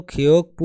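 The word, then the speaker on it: 교육부: মানে হলো শিক্ষা মন্ত্রণালয় এর উচ্চারণ কিন্তু খিয়োগ পু হবে এই গিয়োগ বা যদি বিয়োগ থাকে তাহলে বিউপের উচ্চারণ হবে প তাহলে কি দাঁড়ায় খিয়োগ পু মানে হলো শিক্ষা মন্ত্রণালয়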